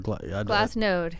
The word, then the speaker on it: Glassnode: Because I was hearing like known or no or... Glassnode. Node, okay.